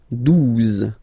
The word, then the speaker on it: douze: onze, okay, douze, douze, O, U, the two together will give you the sound OU, okay, and then Z, douze, douze, alright.